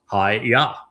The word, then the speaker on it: Yahowah: And Hayah tells us how to pronounce the Y, the Yod, and the two Hay's in Yahweh's name. It's YAHOWAH.